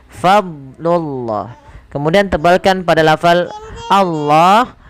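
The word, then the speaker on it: فضل الله: Jangan sampai huruf dnya terpantulkan. Contoh falaula fadlullah. Fadlullah. Ini sering terjadi memantulkan huruf dad. Padahal huruf dad itu bukan huruf yang mantul tapi fadlullah.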